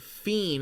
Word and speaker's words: Fien: And thank you, Fien for Caffeine, for the $5 donation, saying it's pronounced fiend as in fiend, by the way.